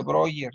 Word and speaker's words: Breuer: No sé Breuner, no sé, Breuner, algo de Breuner. eh, se pronuncia Breuer, pero bueno, se escribe Breuer, pero con él Ajá.